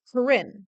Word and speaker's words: Corin: by my first name which is Corin which is how you pronounce it that's why I go